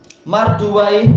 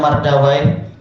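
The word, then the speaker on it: مردويه: Kemudian kita lanjutkan lagi hakimu mustadr wnu marduai ini memang sebagian membacanya mardawa syah dulu juga baca mardawa memang enggak masalah pendekatan kalau di sini muhakiknya menetapkan apa marduai tak masalah ini bukan apa bahasa Arab sehingga lain-lain seperti apa siba Bawa.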